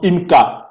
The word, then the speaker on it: YMCA: Même des grands centres sociaux, vous entendez parler chez nous on prononce IMCA, YMCA.